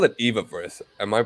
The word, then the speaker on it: Evaverse: it whatever they see fit so i say eva verse um but you can say ebook so i